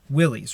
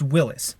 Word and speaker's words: Willys: Willys, right? It's the Willys MB, the Willys Overland Company. You're actually pronouncing it wrong. Willys is a guy's name, and it's pronounced Willis.